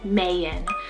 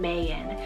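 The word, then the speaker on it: Mayon: adventurous speaking of adventure i have the name mayan spell m-a-y-o-n mayan this is derived from the beautiful volcano in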